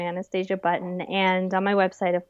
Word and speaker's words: Anastasia Button: on all those platforms is my name Anastasia button spell it and a n a s t a s i a b TT o n just like cute as a button and Anastasia the princess you're you're not related